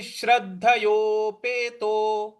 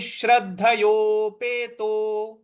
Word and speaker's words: श्रद्धयोपेतो: तो ये हो जाएगा अयतिश अयति श्रद्धयोपेतो अयति श्रद्धयो। यहाँ पे जो द है उस पर हमको आघात देना है। श्रद्ध श्रद्ध ऐसे बोलना है। तो अयति श्रद्धयोपेतो अयति श्रद्धयोपेतो इस प्रकार से बोलेंगे।